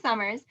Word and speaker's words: Sommers: just did but yes my name is summers i am a board certified music therapist um